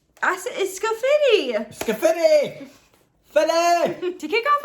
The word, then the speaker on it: Scafidi: No, it's Scafidi!